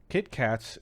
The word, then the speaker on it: KitKat: Kitkatxz is here. Is that the way to pronounce that? There's an X in there. No, just KitKat.